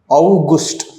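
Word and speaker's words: August: அடுத்தது ஆகஸ்ட் வந்து அவுகுஸ்ட், யூ வந்தாலே நம்ம ஊனா ப்ரொனவுன்ஸ் பண்ணணும், அவுகுஸ்ட்.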